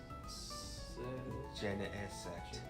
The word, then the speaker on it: Genesect: Genesect. Genesect. Think of Gene, like your genes.